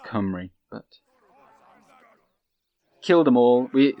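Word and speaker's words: Cymru: I just say hi Marie even though which is Welsh for Wales although he likes to remind me that it's pronounced come REE but kill them all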